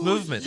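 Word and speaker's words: MVMT: wear anything other than MVM T pronounced movement sunglasses you've heard us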